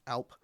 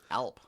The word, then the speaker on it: Alp: So you have the Alp, pronounced Alp. Alp.